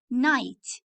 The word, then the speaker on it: night: what do we call this picture night gh silent okay like okay like letter